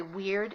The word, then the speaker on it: wyrd: I should say and by the way weird is spelled w y r-d and it is a Norse concept and if I slip